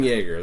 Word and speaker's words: Yeager: I don't know how to spell the booze, so I just know it's pronounced the same.